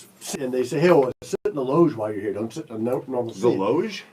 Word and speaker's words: loge: Like you're mispronouncing lounge. loge. Luge?